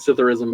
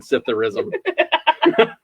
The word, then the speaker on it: psithurism: I thought I had Cytherism in high school once. Oh my god. It's terrible. It's PSITHURISM. What is Cytherism? There's a silent P.